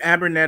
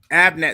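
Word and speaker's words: Abnett: and wrote a good story for that keep abernet on Aquaman yes even even with wait abernet and a few co-creators up next Abnet excuse me you are mispronouncing people's names like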